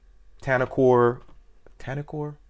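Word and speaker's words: Tenicor: But save up some money and, you know, maybe buy a tier 1 and buy a T-Rex, or buy a Tanacor, that's how you pronounce it.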